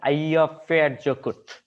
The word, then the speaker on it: Eyjafjallajökull: This is Icelandic names but it's sort of like pronounced as Eyjafjallajökull.